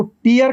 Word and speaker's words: tear: ऐसे ही TEAR, इसको टीयर कहेंगे तो ये आंसू है, आंसू है। टीयर कहेंगे तो क्या है, ये आंसू है। और टेयर कहेंगे तो फाड़ना है।